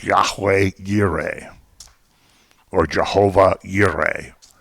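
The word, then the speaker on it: Jehovah Jireh: it's yahweh gire or jehovah yuri it starts with a j that's pronounced like a y because of the hebrew lettering but that the little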